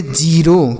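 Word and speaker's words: zero: ई जेड ई आर ओ इसे हम पढ़ेंगे जीरो क्या पढ़ेंगे जीरो तो किसी भी शब्द के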